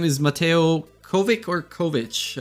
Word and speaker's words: Covic: His name is Mateo Covic or Kovic? How do you say your last name? Covic.